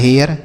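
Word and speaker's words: hair: इसी आर की वजह से इसका उच्चारण बदल गया है।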